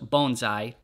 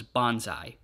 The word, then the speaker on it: bonsai: in a Candlestick and yes it actually is pronounced Bonsai Tim told us that that is the proper pronunciation I always thought it was Bonsai all right time to get to work this